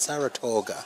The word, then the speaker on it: Saratoga: Saratoga.